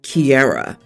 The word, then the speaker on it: Kiara: told the family friends my name was Kiara said like Kiera and then I walked